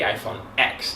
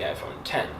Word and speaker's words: iPhone X: 10 and of course they used the Roman numeral 10 so everybody kept pronouncing it the iPhone X even though was the iPhone 10 that was number 10